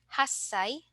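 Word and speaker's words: 八歳: special sounds we have one-year-old isai 8-year-old hassai and 10-year-old juai okay so again please take note that for Sai we have special pronunciation for one eight and then 10 so let's try to pronounce or utter these for our familiarization okay isai n SanSai yonai goai roai n hassai qai and juai okay so next let's go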